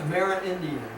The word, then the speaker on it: Amerindian: The older Amerindian, how do you pronounce that? Amerindian.